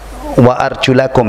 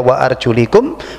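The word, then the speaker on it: وأرجلكم: kaki di basuh Ya Wa arjulakum ya membacanya gitu kalau dibaca WA arjulikum berarti untuk kaki mengikuti hukum kepala di usap tapi di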